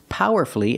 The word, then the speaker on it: powerfully: We also practice with these words, powerfully and mercifully. Again, you have two syllables before F-U-L-L-Y, and the stress is on the first syllable, so the U is silent.